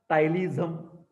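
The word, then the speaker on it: ptyalism: from eyes excessive secretions tilism excessive saliva also okay this is again continuation V excessive salivation yes can you see tym p is silent p is silent that is called as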